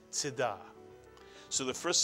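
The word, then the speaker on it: צדקה: And I don't care if you read it Tzedakah, or if you read it a little bit more correctly, Tzedakah. The shva pronounced is always like a grace note, not a quarter note. So that it's not Tzedakah, but it's Tzedakah.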